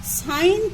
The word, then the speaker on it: sin: তো সি কোণটাকে theta ধরলে সি কোণের সাপেক্ষে প্রথম অনুপাতটা লিখেছি, দেখো এটা উচ্চারণ করবে সাইন থিটা। লেখা আছে দেখো SIN থিটা, এটা উচ্চারণ হবে সাইন থিটা।